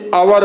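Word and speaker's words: hour: तो जैसे पहला ही आपका दिया गया है आवर, इसे आवर पढ़ेंगे, आ रहा है इसलिए एन लगेगा। एम ए, इसका आप उच्चारण क्या करेंगे?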